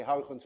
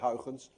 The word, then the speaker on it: Huygens: a very different way heritance by the way is difficult to pronounce any one of you who knows how to say how sins correctly is also dutch because you miss the air in your language and you mr.